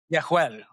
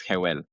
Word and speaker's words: Jehuel: Yehuel, is that how you pronounce it? Yehuel, Yehuel. and in Spanish is Jehuel.